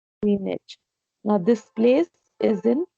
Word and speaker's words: Greenwich: Greenwich. GR. It's which नहीं कहते हैं, Greenwich. W is silent. Greenwich.